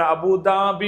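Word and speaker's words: أبوظبي: കൃത്യമായ പ്രൊണൻസിയേഷൻ ഫോളോ ചെയ്യാൻ പറ്റുന്നവർ അബുദബി എന്നേ പറയാവൂ അബുദാബി എന്ന് പറയരുത് ഓക്കെയാണോ അതേസ്ഥാനത്ത് ദുബൈ പറയുമ്പോൾ അത് അല്ല അത് ദ തന്നെയാണ് മലയാളത്തിലും ഇംഗ്ലീഷിൽ പറയുന്ന ദ തന്നെയാണ് ഓക്കേ ദുബൈ അത് കറക്റ്റ്ആണ് ഇംഗ്ലീഷ വേഡിന്റെ അതേ അറബി തന്നെയാണ് അപ്പോ അബുദബി എന്നുള്ളത് ആ ദ അല്ല എന്ന് കാര്യം ശ്രദ്ധിക്കുക ഓക്കെയാണോ രണ്ടാമത്തെ ഒരു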